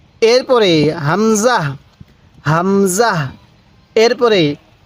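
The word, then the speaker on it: همزة: এই হরফটির নাম কি এই হরফটির নাম হলো হামজাহ হামজাহ আমার সাথে বলুন হামজাহ এরপরে বলবেন এই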